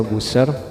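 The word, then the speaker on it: Buescher: waktunya ini lemot bisnya Buser bacanya bener kasih jadi kayak Buser ya Aduh tulisannya emang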